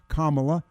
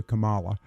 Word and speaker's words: Kamala: the circumstances related to kamla as opposed to Kamala but kamla Harris and thank